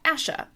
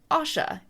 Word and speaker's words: Asha: OSHA like the Occupational Health and Safety Administration or Asha Awesha like you are in a Asha versus the other character who could also be pronounced Asha A ha or Asha. So in my head the way I pronounce these two characters when I'm reading the books is OSHA and Asha because that clearly separated them in my mind.